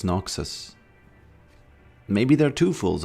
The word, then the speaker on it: Noxus: He's from Noxious and I remember a long time ago I said the hand of Noxious and people thought that I'm a fool for pronouncing it that way. Uh and they said it's Noxus.